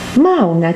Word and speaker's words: Mauna: M-A-U-N-A. Mauna, que quiere decir silencio. ¿Qué es Mauna? La palabra Mauna consiste de 2 sílabas, ma y na.